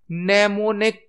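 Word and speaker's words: mnemonic: है assembly language में नेमो निक code use किए जाते थे नेमो कोड एम साइलेंट होता है नेमोन कोड यूज होते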